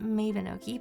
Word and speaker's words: Mabinogi: We just started the game, just create the character playing Mabinoi. I pronounce it Minoi, by the way.